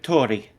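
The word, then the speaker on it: torii: These um arches, they're called Tori. Um Mhm. They demarcate the boundary between the mundane and the sacred. Yep. It's pronounced like their word for bird. Like Tori.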